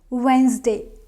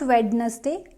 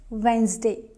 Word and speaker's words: Wednesday: confidently so let's get started first word is Wednesday Wednesday not wedes day it's Wednesday and if you notice carefully I have divided